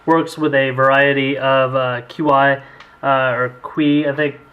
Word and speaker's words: Qi: We'll show you how that works with a variety of QI or Qi, I think it's pronounced, chargers.